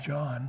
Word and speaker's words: Jean: It's pronounced John for some reason.